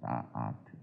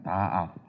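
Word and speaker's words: דעת: 다 아트. 발음을 하지만 다 아스입니다. 다 아스.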